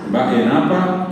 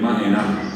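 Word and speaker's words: mba'éna: Y el de abajo, fíjense que dice baenapa, que la gente dice comúnmente también, le quita la B y dice maena, pero la palabra correctamente pronunciada es baena.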